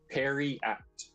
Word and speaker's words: periapt: Periapt.